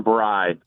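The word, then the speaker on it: braai: John, I need you to pull up the Google machine and look up South African bry and spell it B R A A I.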